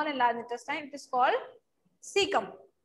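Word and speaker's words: caecum: Okay, A is silent in this. सीकम में ए जो होता है आपका साइलेंट होता है.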